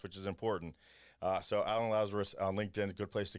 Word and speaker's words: Lazaros: And in LinkedIn is Alan, Lazaros. Is it Lazaro? Lazarus, but it's spelled with an OS instead of a US. Yeah. Okay, with an OS, which is important. So Alan Lazarus on LinkedIn, good place to get a hold of you.